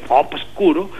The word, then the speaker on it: obscuro: Pero si hay necesidad de decir obscuro, pues hay que pronunciar la B, que ya no es B labial, sino que B, absoluta. Bueno, sería amplio, pero muchas